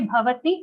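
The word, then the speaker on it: भवति: So the best way to give it is to say bhavati and immediately just shut your lips. Bhavati. Bhavati Prabho. Okay, if you say it like that, then the aghat will come.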